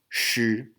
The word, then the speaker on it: 诗: So this one is pronounced 诗, 诗. The little hook under the S stands for retroflex.